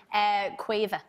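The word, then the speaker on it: Caoimhe: There's a lot of vowels in that name. Quiva. One more time? Quiva.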